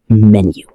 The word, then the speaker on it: menu: The word menu. Many beginners say menu. Let's say it slowly. Menu. Menu. Menu. The stress is on the first syllable.